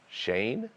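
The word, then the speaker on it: Schoen: bill's assistant gm joe shane he's the new gm nailed it hey look at the spelling it's different than the pronunciation get it right or pay the price greg it is striking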